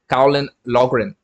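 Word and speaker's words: Caolán Loughran: Colin Logram. Colin, how do you spell his name? How do you pronounce his name? I know how to spell it, but how do you pronounce his name? Colin Logren.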